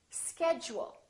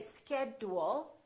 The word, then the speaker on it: schedule: we say educate education schedule we don't say schedule we say schedule one more word individual